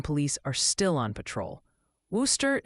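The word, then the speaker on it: Wooster: Worooster is apparently Worcester rhymes with rooster not.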